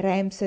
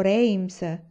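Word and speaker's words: Rheims: mobile signora dottor achara sa dirmi se rams si pronuncia rimesse rings rams o rhames in realtà assomiglia più a run susan maledetti nomi francesi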